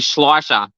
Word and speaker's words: Schleicher: Mackenzie pronounced it well, and I know there's a lot of people that do struggle with pronunciations of Ruby Schleicher. So it's a tick to Mackenzie for getting it right.